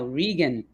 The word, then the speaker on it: Reagon: thank you thank you how to say my name now Regan Regan okay Toshi Regan welcome Toshi Regan there